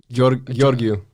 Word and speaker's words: Georgiou: Sebastian Georgiou. Georgiou. That's how you say it.